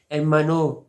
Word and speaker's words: hermano: Mother, madre, padre, father, padre, hermano, brother, hermano। इसमें देखिए एच जो है ये साइलेंट है, ओला में भी एच साइलेंट था तो hermano, hermana, sister, hermana, hijo,